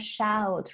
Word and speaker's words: shout: Be careful with the pronunciation of shout. Remember that we have a verb which is shoot. Yeah, S-H-O-O-T. We need to make a difference in pronunciation between shoot, yeah, and shout.